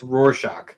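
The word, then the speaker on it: Rorschach: According to this, it's Roarshock. Roarshock. It's it's a word that's hard to pronounce.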